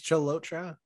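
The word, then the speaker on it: Chalotra: i think it's called lotra challenge it's like how it's pronounced is cholotra really really quick jerome you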